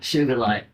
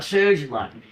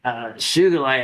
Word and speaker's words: Sugilite: When you have that color in Sugilite. And it is with a hard G. It was Kenichi Sugi, not Suji. So it's not Sugilite.